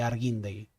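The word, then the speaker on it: Argüindegui: qu es decir argi arguindegui una época no saben lo que me costó dejar de pronunciar la la H como J de arguindegui em por otro lado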